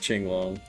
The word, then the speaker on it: Qinglong: It's Qinglong, but it's spelled shit, I don't even remember how it was spelled. Yeah, it's not spelled like Qing though. Yeah, that's what it is. But it's pronounced Qinglong, I'm pretty sure.